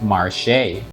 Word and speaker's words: Marche: I found this Reddit thread and most folks there pronounce it like the word marsh, which is also how I've always pronounced it. However, somebody linked what seems to be a bizarre TV commercial for this game where the name is pronounced mare.